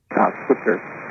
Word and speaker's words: SWTSR: SWTSR Switzer. Like the very mediocre overrated Dallas Cowboys coach.